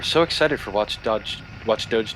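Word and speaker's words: Watch Dogs: Creed Unity we had watch Dodge um Dodge watch Dodge you mean dog Watch Dog oh God is that how it's pronounced yes oh God I'm so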